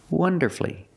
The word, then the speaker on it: wonderfully: changes to three syllables it's not wonderfully we don't make it for when you put Le after these words so when you see f l l y don't pronounce that U shorten the word and make it three syllables like masterfully beautifully now we see wonderfully wonderfully three syllables like the others so wonderfully when you